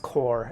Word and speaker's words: corps: that's correct then ordinarily c-o-r-p-s is actually pronounced core as in like an Army Corps but yeah I think